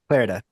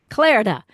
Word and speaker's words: Clarida: it's gone say it what's your last name Clara Clara Zachary Clara all right I got it woohoo